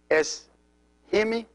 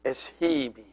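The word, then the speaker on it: ⲥϩⲓⲙⲓ: And it is es-himi, not es-hibi.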